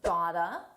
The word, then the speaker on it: got to: Got to is pronounced gota. I gota hand it. Notice the linking here. Hand it. I gotta hand it.